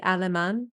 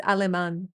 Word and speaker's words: alemán: Did you know that German in Spanish is actually alemán? Like, I remember it like it's aluminum, but it's alemán.